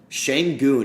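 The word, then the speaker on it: Şengün: Sengun is how you pronounce it.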